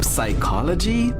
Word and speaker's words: psychology: Also, psychology palm. Okay, but the thing is it's probably our accent that makes us think that the P is not silent. We tend to pronounce every letter in a word.